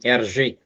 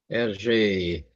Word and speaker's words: Hergé: Yeah, it was invented by a guy named Hergé. Or maybe Hergé was Belgium. I don't know. Just a minute there. Hergé. A minute there. Hergé. From the French pronunciation of his reverse initial, RG, was a Belgian comic strip artist.